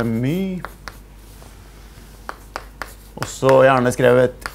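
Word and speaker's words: μ: Egentlig så bruker vi den greske bokstaven her my på norsk så uttales det my og så gjerne skrevet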